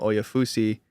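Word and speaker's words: Oyefusi: a reporter for the Browns of ESPN, Daniel Oafussi, that's how you say his name, said that the Browns are going to stick at 33 to make their pick.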